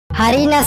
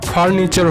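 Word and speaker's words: furniture: হারিনা স্যার। একদম ঠিক, তবে উচ্চারণটা হারিনাসার হবে না, ফার্নিচার হবে।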